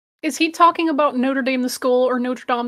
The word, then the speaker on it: Notre Dame: this because we're just using the actual French pronunciation complete with the oh the uvular art it's I believe in the International Phonetic Alphabet it's an upside down small capital r so it doesn't go above the midpoint of the line but